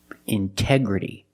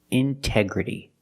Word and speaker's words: integrity: Integrity. The stress is after the NT in these words. So we pronounce the T as a pure T. Integrity.